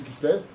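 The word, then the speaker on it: כסלו: au niveau de l'intonation, comment on écrit Kislev? Kaf, Samer, ouais, Lamed, Vav. Mais comment tu le prononces? Kislev. Kis, donne, lève.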